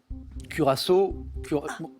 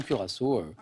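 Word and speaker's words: Curaçao: non encore courao C curassau j'aime bien votre prononciation je valide bien sûr ça c'est ça s'écrit cur ch littéralement on dit souvent curassau la liqueur couleur bleue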